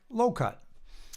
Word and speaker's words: LOCUG: Jeff and Charlie belonged to a Lansing Orange computer user group, acronymed LOCUG, and pronounced like low-cut.